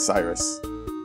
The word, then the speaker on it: Cyrus: Cyrus.